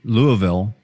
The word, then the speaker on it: Louisville: I grew up there, Well, it's kind of like if you don't say Louisville instead of like Louisville or whatever, if you don't say Louisville, then you're saying it wrong.